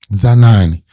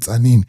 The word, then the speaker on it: Zanani: You go to Zanani. The white men called it Zanini. They could not pronounce Zanani.